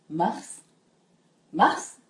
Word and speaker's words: Mars: フランス語で「ますます」と言いますこの最後の S まで発音するのがポイントですねこのマウス M を